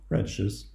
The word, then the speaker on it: RADICES: the software presentation of radishes which is intentionally pronounced this way and also a twitter